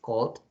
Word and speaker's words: called: So in this case, when the verb finish in L, N, R, G, V, S, W, Y, or C, so you have to pronunciate like a D. In this, for example, here is called.